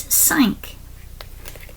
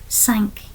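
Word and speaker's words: cinq: heard people speaking that often the last consonant is silent. So they don't really pronounce it like an is also sank.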